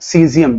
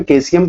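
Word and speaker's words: सीज़ियम: सीजियम, जिसको आप कहते हो। कुछ लोग इसका प्रोनाउंसिएशन कैसियम कहते हैं, जो भी आप कहें, तो ध्यान रखिएगा कैसियम।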